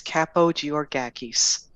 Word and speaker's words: Kapogeorgakis: that yourself if you're all curious it is capo g or gakis i'm greek that being said now that we're